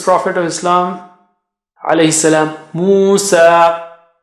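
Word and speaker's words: موسى: of Islam, alayhi salam, Musa. Musa, so we don't pronounce it as Musai, for example. Musa, the ya at the end has no sign, so it has no sound.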